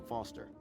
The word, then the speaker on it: Foster: so it does i'm foster i'll remember that easy because your name rhymes with fossil and you're old what's